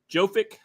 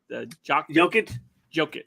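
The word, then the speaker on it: Jokić: The matchup I'm going to want to see is their big men on Jovic. Is that how you say his name? Jokic.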